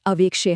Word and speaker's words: अवेक्षे: समय देना है, और अवेक्षे हम बोलते समय ए को लंबा खींचना है और उस लुप्त अ यानी अवग्रह का खास ध्यान रखना है।